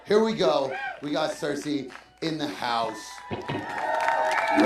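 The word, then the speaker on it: Sirsy: Rich and we are a band called Cersei like it's spelled in my drum sir r s y and we're going to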